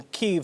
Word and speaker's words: Kyiv: And I want to ask you, you were actually in Kyiv, and I'm saying that correctly. We like to say Kiev here, but that's the Russian pronunciation.